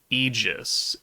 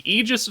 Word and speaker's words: Aegis: I'm going to say Eegis because it reminds me the Eegis Gundam from Gundam Seed. And if someone wants to tell me it's pronounced differently, well then too damn bad.